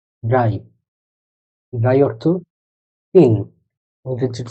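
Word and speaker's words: drei: আরেকটা random word দিই, এটা উচ্চারণ কি হতে পারে। হলো ডে ইয়া এ ই, ড্রাই।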